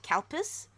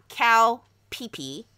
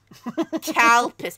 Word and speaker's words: Calpis: It looks like Calpis. Not cow pee pee. Calpis.